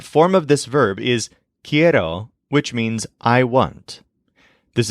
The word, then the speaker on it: quiero: the most frequent form of this verb is kiero which means I want this is spelled Qi e r o for example I